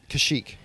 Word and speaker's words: Kashyyyk: Kaishak or Kashyyyk? Kashyyyk.